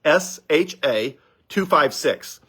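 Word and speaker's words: SHA-256: is the same one right now is called sha 256 s h a256 and it's uh I forget it's a complicated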